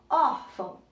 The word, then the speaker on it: órfão: Por exemplo, quando eu falo órfão, qual foi a sílaba que eu falei mais alto, que eu tive mais ênfase para falar, que eu tive, né, que eu falei ela de uma forma mais forte? Ó, órfão. Então, eu tenho o órfão.